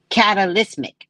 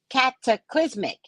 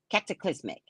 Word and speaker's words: cataclysmic: Catalysmic. Oh, I did say it as close as I could get it. Cataclysmic. Cataclysmic. Thank you.